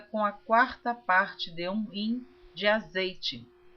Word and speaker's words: hin: Eu quero deixar aqui, eu gosto de esclarecer que esta palavra hin está escrita H-I-M. Alguns pronunciam rim, mas eu estou lendo como está escrito em português, porque eu